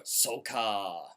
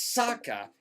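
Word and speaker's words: Sokka: about or oh no or soca i mean it's saka it's saying throughout the entire movie i was i was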